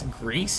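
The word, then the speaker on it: Gris: another one was uh I guess Greece is how you pronounced it g r i s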